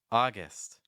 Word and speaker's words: August: it's July August August the second syllable is not gust so if you're saying August not quite this hour We're Going For I recommend a short I sound like IST August September the September my